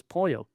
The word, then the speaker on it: pollo: And it's like I used to mispronounce pollo, polo. I called it polo chicken. Chicken's polo. It's pollo.